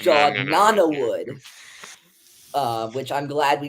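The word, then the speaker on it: Jod Na Nawood: mostly it was fun we were pronouncing it J nanwood it's j Nana wood uh which I'm glad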